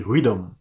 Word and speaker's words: rhythm: Le rythme en anglais s'écrit R-H-Y-T-H-M. À votre avis, comment prononcer ce mot-là? Donc, le mot se lit rhythm, ok?